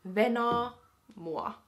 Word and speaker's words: venaa mua: And then to turn it into like the command, wait for me, it would be Venaa mua.